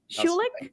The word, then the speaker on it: Schulich: health he graduated from schulich school did i pronounce that correctly schulich that's right oh good schulich school of medicine